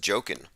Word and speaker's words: Joaquin: tech inc says that joaquin is pronounced joking of the the phoenix joaquin